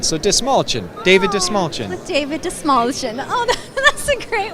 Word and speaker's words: Dastmalchian: sure it's destination and the trick is if you had a small chin you'd say this small chin so this small chin David de smallchen David de small oh